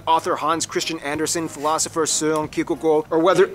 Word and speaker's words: Søren Kierkegaard: Back to culture though, Denmark has definitely left its mark, whether it's notable figures like author Hans Christian Andersen, philosopher Søren Kierkegaard, or whether- Can you pronounce his name?